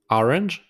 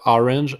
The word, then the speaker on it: orange: Orange, exact same way of English, but the pronunciation is a little bit different. Instead of orange is orange. So make the pronunciation R with the throat.